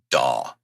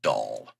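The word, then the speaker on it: DAW: Sorry, I should be more clear with what I say and more um audibly clear with how I pronounce dah, not doll.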